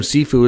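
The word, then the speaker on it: Cifu: Now, of course, another big incident that went down between the Florida Panthers minority owner, Doug, I think he pronounced his last name Sifu, it's C-I-F-U, with Maple Leaf fans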